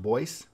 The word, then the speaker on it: Boise: seat is Boyce City it looks like Boise but it's pronounced Boyce and it's also home